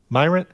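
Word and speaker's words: Myrient: So what has happened here is, how do you say this? Myrant? You got it first time. Myrant?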